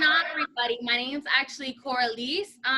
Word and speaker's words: Coralys: So, I'm with the special Coralys.